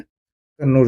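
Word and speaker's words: കണ്ണൂർ: और फिर कोचिन से होने के बाद ये कैनानोर गया। कन्नूर आप कह सकते हो आज का। यह एक्चुअली कन्नूरी है। इन्होंने यह यूरोपियंस का वर्ड को बोलने का एक मिस प्रोनाउंसिएशन के चलते यह कहना हो गया है। बट यह है कन्नूर ही।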